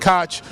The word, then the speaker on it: Koch: of some say the Koch brothers is pronounced K O C H, some pronounce it cotch, multi-billionaires, philanthropists.